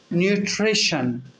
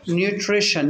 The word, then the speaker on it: nutrition: هو ليتر تي اهو، لو انا حطيت عليه اي او اصبح الثلاث حروف دول بيتنطقوا كانهم كانهم شين في العرب. عشان كده بص انا هقول ايه، نيوتريشن، ريبيت نيوتريشن.